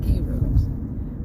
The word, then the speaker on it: gyros: Adam and I have always pronounced it gyros. It's gyros.